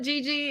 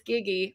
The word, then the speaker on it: Giggy: say your last name giggy i'm like i don't want to call it gigi if it's giggy okay perfect i am